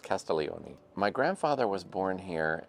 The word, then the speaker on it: Castiglione: Castellioni has a silent G in it, by the way. It looks like Castig Leonei, but it's pronounced Castellioni.